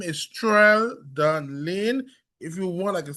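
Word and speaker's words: Layne: also on Facebook so my name is Tan Lane if you want I can spell it for you t R E L D O N Ton Lane L A Y N E.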